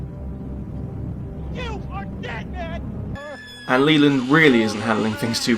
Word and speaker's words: Leland: I keep saying Leyland, but it's kind of Leland.